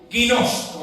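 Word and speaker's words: γινώσκω: Guinosco. Así se así mismo como lo estoy pronunciando. Así mismo con g. Guinosco.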